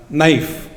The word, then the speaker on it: knife: is silent in talk K is silent in knife isn't it and who